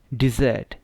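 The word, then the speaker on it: dessert: Words भी हो सकते हैं जिनकी सही सेम प्रोनाउंसिएशन होती है, जिनको होमोफोन्स कहते हैं इंग्लिश में। तो अब ये क्या है, डिज़र्ट।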